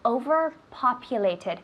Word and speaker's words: overpopulated: How do you say overpopulated? Careful with the pronunciation. Overpopulated, the tid at the end.